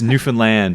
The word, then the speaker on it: Newfoundland: It's Newfoundland, understand. Yeah. Oh, yeah, it rhymes with understand.